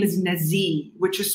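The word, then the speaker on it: Nazih: And then on top of that, his name is Nazi, which is spelled N-A-Z-I-H.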